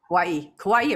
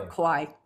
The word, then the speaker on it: Kauai: Kauai or Kauai. I like Kauai. That's the more Kauai. Legit pronunciation.